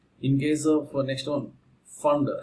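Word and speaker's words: Pfund: In case of next one, fund. Actually P is silent, students. So here fund series.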